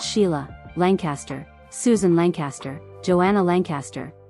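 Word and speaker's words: Sighle: They were Sigel, pronounced Sheila, Lancaster, Susan Lancaster, Joanna Lancaster, who became a film producer, James Lancaster, and Bill Lancaster, who became an actor and director.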